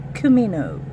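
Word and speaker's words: comino: And ground cumino. Ground cumin. Okay? Cumin. Cumino is how we say it in Spanish. Cumin is how you say it in English.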